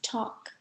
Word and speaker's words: talk: silent letter in talk the L is silent we say it like this talk now repeat after me